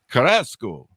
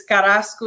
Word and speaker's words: Carrasco: biography of me uh did I say that right Elaine did I get the Spanish lingo there you're very close you're very close yeah give me a correction so I have it right it's Carrasco 67.